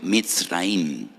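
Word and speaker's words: מצרים: Y recuerdan la aflicción, la amargura de la esclavitud, porque la palabra Egipto en hebreo se pronuncia mitraim.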